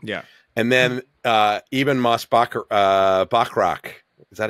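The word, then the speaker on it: Moss-Bachrach: And then Eben Moss Bachrach. Is that how you pronounce his name?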